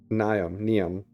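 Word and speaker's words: Niamh: Niam. With the H at the end.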